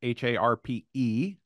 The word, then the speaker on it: Harpe: It's harp with an E. The E is silent.